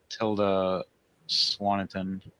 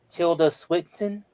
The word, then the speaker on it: Tilda Swinton: Uh, got uh I don't know if you guys got uh Tilda Swaniton. Yeah, we did. We did. Did I say her name right? No. Tilda Swinton.